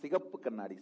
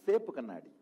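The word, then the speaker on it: செப்பு கண்ணாடி: remember even the pronunciation, not sigappu kanadi, Sepu kanadi. That's the village pronunciation.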